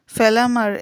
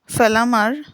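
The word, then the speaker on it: Fellamar: Lady ব্যালেস্টন পরবর্তীতে সোফিয়ার প্রতিরশানিত হয়ে পড়ে এবং লেডি ব্যালেস্টন এবং মিসেস ওয়েস্টারন মিলে সোফিয়াকে লর্ড ফেলামার এর সঙ্গে বিয়েতে রাজি করাতে চাপ দেন। এই লর্ড ফেলামারের বানানটা হচ্ছে এলও আরডি FE double L এ এম এ R Lord ফেলামার।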